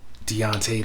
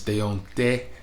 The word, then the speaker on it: Deonte: devante you know deontay leon that's the americanized pronunciation by the way it's deonte leon that's how you